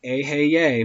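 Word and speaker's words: Eheieh: Vibrate the name Aheye, pronounced Aheye, meaning I am.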